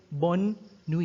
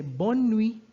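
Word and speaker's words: bonne nuit: bonnie repeat after me you don't separate it don't say bon nui you say bon nui it's as if it's one word next how about you're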